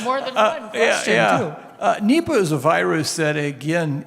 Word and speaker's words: Nipah: A couple of questions, actually, from the audience about and I'm sorry, I don't know the correct pronunciation of this. Is it Nipah or Nipah? Nipah.